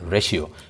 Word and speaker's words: ratio: অনুপাতের ইংরেজি কিন্তু রেশিও, RATIO, উচ্চারণ হচ্ছে রেশিও।